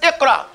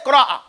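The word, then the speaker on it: اقرأ: Everybody says iqra. But you don't see the kasra. But you don't say qra'a. You say iqra.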